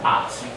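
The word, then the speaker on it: את: make sure that they clearly create a glottal stop after the vowel at.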